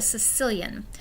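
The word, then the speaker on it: caecilian: and it's called a Sicilian which yes makes it sound like they're from Italy and not at all what that word looks like but that's how you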